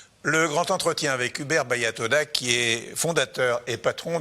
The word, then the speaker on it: Hubert Baya Toda: Le grand entretien avec Hubert Bayatoda, qui est fondateur et patron de Lickmitted. Je l'ai bien prononcé?